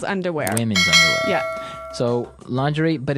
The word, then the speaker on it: lingerie: Underwear, panties, briefs, boxers, boxer briefs, thong, g-string, bra, sports bra, strapless bra, pushup bra, undershirt, camisole, lingerie, thermal Underwear, tights, stockings, slip, night gown, pajamas, robe, tighty whies, long johns, corset, shapewear, seamless underwear.